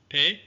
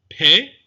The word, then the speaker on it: Pe: Pe is pronounced with the dagesh, p, or without the dagesh, f, similar to the English ph, so that should be easy to remember.